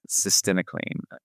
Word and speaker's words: Cytisinicline: You got to learn how to pronounce it. Cytisinicline.